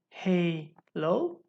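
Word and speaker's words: HaLow: And by the way, just for your info, 82.11ah is well known as Halo, okay? Or it can be actually spelled like this, Halo.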